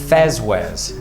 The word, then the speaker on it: FazWaz: Faz Waz.